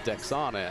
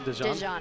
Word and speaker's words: Dexana: Well, you know, before you pronounced Dejana, I thought it was Dexana, and that's our own Miss Spanish Fork, so, you know. Unless you know, you don't know. No, it's spelled Dexana.